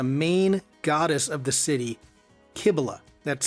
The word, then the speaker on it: Cybele: Today's lesson will look at the main goddess of the city, Kibila. That's spelled C Y B L E.